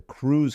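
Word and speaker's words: krewe: that's where the the crews came into place right and by crew it's spelled k r we but they're whole bunch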